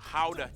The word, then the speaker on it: Gouda: And the pride and joy of the nation, Gouda cheese. Yep, that's how you pronounce it, guys.